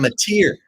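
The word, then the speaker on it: Mateer: from Washington State quarterback John mozer how you pronounce his name John Mater Mater oh M John M yeah he's supposed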